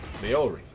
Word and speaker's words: Maori: The guy from the culture based on the Maori. Maori. Gotta pronounce it right.